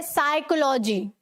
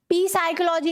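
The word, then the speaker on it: psychology: साइकोलॉजी, ठीक है, साइकोलॉजी, पी साइकोलॉजी नहीं होता, ऐसे बोलते हैं ना कितना बड़ा साइको है, ठीक है, तो उस स्पेलिंग में भी ये जो पी है वो साइलेंट होगा, एस से पहले वाला पी भी साइलेंट होता है।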